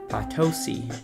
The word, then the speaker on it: Potosi: I mean, granted, I'll probably pronounce it wrong again here in a second, but I'm gonna remember. Potosi.